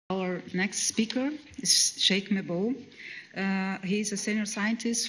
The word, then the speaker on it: Cheikh Mbow: My name is Cheikh Mbow, not Mbow.